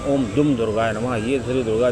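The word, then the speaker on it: ॐ दुं दुर्गायै नमः: नमः डुम दुर्गाय नमः लोग इसका अक्सर गलत उच्चारण भी करते हैं ओम दुम दुर्गाय नमः कोई कुछ कह देता है लेकिन इसका सही उच्चारण ओम दुम दुर्गाय नमः यह श्री दुर्गा जी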